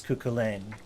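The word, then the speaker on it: Cú Chulainn: figure in irish folklore named kukolin um pronounced usually as kukulen um who was a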